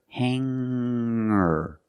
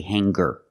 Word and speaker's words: hanger: When I change these words with ER, I don't pronounce the G sound. It's just the nasal linked together with the Together, hanger, hanger. There's no G sound. I cannot say hanger. I cannot say singer.